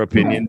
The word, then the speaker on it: opinion: something to notice too in the pronunciation of opinion you actually hear a why you see that J here that's a y sound so this I here it's like putting a little y in the middle let me draw it